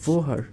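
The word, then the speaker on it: woher: কি বলে থাকি আর জার্মান ভাষা এটাকে বলা হচছে ভোহার এটা হচ্ছে গিয়ে জার্মান ভাষার শব্দ ভোহার আর এটাকে ইংলিশে আমরা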